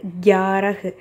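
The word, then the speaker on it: ग्यारह: So first வந்து கியாரஹ், அது க கிடையாது, கவோட ஹாஃப் இருக்குது. ஸோ இக்குன்னு ப்ரொனவுன்ஸ் பண்ணும். இக்கு யா ரஹ், கியாரஹ் அப்படின்னா 11.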